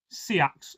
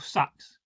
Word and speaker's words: seax: Today is a close-up look at a typical Anglo-Saxon or Viking Seax or Sax, depending on how you pronounce it.